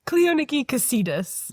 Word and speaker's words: Cleoniki Kesidis: Cleoniki Cassidus.